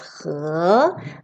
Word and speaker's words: 河: And this character pronounced as 河.